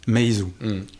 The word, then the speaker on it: Meizu: Quelle est la prononciation correcte ? Meizu. Meizu.